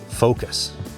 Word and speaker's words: Foqos: But, there is an amazing free app made in Calgary, Alberta and it's called Focus. It's spelled with a Q.